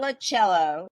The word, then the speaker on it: Colaciello: Colaciello. It's cola like Coca-Cola. You were in Cello. Italy when you were in Italy when you learned how to say your name. Colaciello. Right. They said no Colaciello.